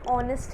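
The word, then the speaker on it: honest: examples मैंने बोला एंड ऑनेस्ट मैन 1968 और इससे पहले होती एच ओ एन डी ए पी डायन music and avoid all इट्स own rust जब हम बोलते हैं तो ऐज उसमें साइलेंट है और ऐसा लग रहा है कि वह स्टार्ट हो रहा है बे ग़र्ज को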